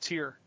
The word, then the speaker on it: Tyr: try Spitfire right now it's Tyr so just tear Oh tear yeah plead that figure out